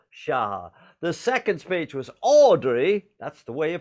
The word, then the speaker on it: Audrey: The second speech was Audrey, that's the way you pronounce it, Christian, Audrey Ying Sing Lee Fat,